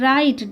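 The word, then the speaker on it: write: রাইট ডবলিউ আর আই টিই রাইট। ডবলিউ কি এখানে? Silent.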